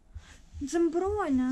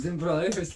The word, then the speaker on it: Dzembronya: Dzembronya. Dzembronya.